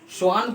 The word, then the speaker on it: श्वान: तो उससे आप लोग रिलेट कर सकते हैं, भले स्पेलिंग अलग हो लेकिन श्वान बोलने में इसको भी श्वान बोला जाता है।